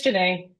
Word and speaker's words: Janae: Almost. It's Janae.